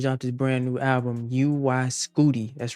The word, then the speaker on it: UY Scuti: So, Young Thug just dropped his brand new album, UY Scooty. That's right. That is how you pronounce it.